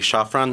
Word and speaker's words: Zaffron: Uh, the actual correct pronunciation would be Shaffron.